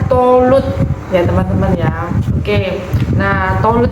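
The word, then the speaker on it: Thalut: memimpin peperangan ini adalah Talmud tapi kalau dibaca bacanya tholut ya teman-teman ya oke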